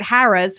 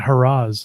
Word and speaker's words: Harrah's: We were at Harrah's, which is like a mile walk to the boardwalk. Run. Is it pronounced Harrah's? I've been calling it Harrah's. No, Harrah's. It's Joe Harrah's.